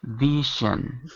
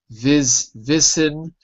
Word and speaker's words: vision: So it that you you would say it wrong if you use an s like v ven or vision or vision or any of those. It's like measure vision.